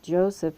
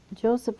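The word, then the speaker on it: Josef: fair f HR and I'm pronouncing it Joseph it's j o EF but I'm saying the J English Joseph far was another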